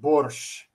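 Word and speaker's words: borscht: traditional Ukrainian soup called Bor that's how you pronounce it borch it's made with yeah it's it uses beads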